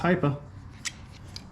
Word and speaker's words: Hipa: what that stands for so you say the high like high performance hypa so I was calling it Hippa before CU I just didn't know but it's hypa I got it right